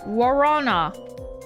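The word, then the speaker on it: guaraná: Warana. I didn't know that you didn't pronounce the G.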